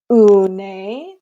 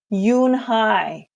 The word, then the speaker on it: Unhei: "Une?" the girl asked, scrunching up her face. Une," some kids chanted. No, Yunhai corrected. It's spelled Unhei. It's pronounced Yunhai.